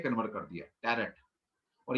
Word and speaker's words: Tarot: तो वो कहते हैं जी हमारा तोरा को इन्होंने टैरो में कन्वर्ट कर दिया, टैरेट। और ये भी टैरेट वर्ड लिखा हुआ है, लेकिन बोलते इसको टैरो है, टी साइलेंट रहता है बाद में।